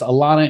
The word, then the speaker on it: Alana: Hey, Clean Nation, Mike Campion here with my new BFFs, Alana and Cody.